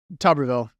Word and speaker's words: Tuberville: What's the correct pronunciation? Tuberville.